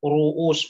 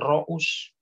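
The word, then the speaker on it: رؤوس: Jadi kita tahu bacanya ru'us bukan ro'us. Ya. Oh, ternyata domah awalnya.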